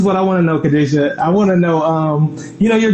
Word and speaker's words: Khadijah: This is Khadijah, and I'm saying it right, Khadijah?